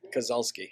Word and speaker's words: Kazalski: We got Kazalski here today. How do you sound on the ears? You loud? Good? Kazalski, Kazalski, how do you say it? Kazalski.